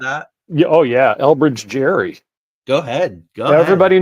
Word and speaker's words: Gerry: Elbridge Jerry.